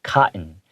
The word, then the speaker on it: cotton: Yeah, you can say cotton, but I usually take out the hard T sounds in the words. That's just what local English speakers do. So I pronounce it cotton, cotton, okay?